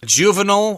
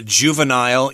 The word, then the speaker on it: juvenile: a juvenile correctional facility juvenile or juvenile you can pronounce it either way that just has to